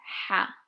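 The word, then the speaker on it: ح: in the English language, and it's ha. It's like a hard H, and I find that a lot of my friends who are not native language Arabs find it really hard to pronounce. So if you want to replace it with any letter, replace it with H.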